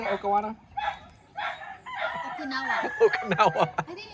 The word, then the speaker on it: Okinawa: Let us know what Okawana stands for. Is that how you say it? Okawana? Okinawa.